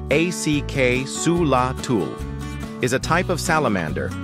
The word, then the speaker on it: axolotl: The axelottle, pronounced acula, is a type of salamander found only in Mexico's ancient lakes, like Lake Zochilo.